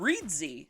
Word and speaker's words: Reedsy: free e-pub file creation tool and i found reedzy and that is spelled r-e-e-d-s-y so they have a free